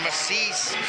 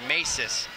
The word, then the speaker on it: Masis: Down the lane, a left-handed layup is good for Massis. 4th point in the half. Masis, I'm sorry, Masis.